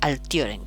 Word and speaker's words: altiorem: añade ior, altior, altiorem, siendo esta O una vocal larga, por eso se pronuncia altiorem, con toda la fuerza aquí en esta O.